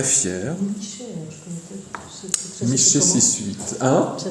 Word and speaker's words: Michée: Michée 6.8. Hein? Ça s'écrit comment?